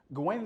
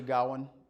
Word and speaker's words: Gawain: So Gawain and the Green Knight, and you'll find that my accent is always mispronouncing it, which is interesting because it is actually Gawain if pronounced properly.